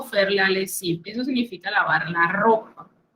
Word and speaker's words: lessive: Nótese que lessive lleva doble S, por lo cual usted menciona al pronunciar es una S, no una Z como en otras palabras.